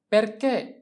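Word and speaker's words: perché: এরপরে হচ্ছে খুব কমন একটা শব্দ যেটা হচ্ছে পেরকে, পেরকে, পেরকে, পেরকে অর্থ হচ্ছে কেন, পি এ আর রে, পের, চি আক্কা এ, পেরকে, পেরকে অর্থ কেন।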